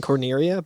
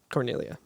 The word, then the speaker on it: Cornelia: in my head thinking Corneria, but it's Cornelia. On your game. On my game. Yeah. If you Also- skip the cutscene where you meet Corneria, it actually gives you a level 1 Corneria, and it's spelled Cornelia.